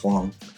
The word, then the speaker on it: Huang: is huang um so it sounds more like h-u-a-n-g um and i looked up her chinese name is so uh it checks out they actually pronounce hwang nice yeah yes yes